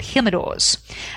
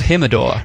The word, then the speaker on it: Jimador: There's a tequila brand called Jimador. There is. Which is spelled with a J for those of you who don't speak Spanish. Yeah, it's Jim. You can call him Jim for short. Jimador.